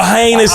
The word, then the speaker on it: heinous: Oh, heinus to rhyme with anus.